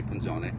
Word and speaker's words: Punzoné: Most people do. They'll say Punzoné.